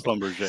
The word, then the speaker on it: Schlumberger: Do you do the German? What is it? Schlumberger? Is it Schlumberger? Right. It's Schlumberger.